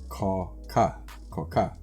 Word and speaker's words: Chakah: I mean, it looks like that, but it's Chakah. That's how it's pronounced.